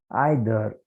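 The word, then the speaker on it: either: And third, Gopal is आइदर, Gopal is आइदर intelligent, इधर भी बोलते हैं, इधर इंटेलिजेंट और रिच, स्पेलिंग के अंदर नहीं रहना, ठीक है।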